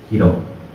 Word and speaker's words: Hiro: is my nickname is Hiro you can call me you know it's like the same pronunciation as superhero so I will try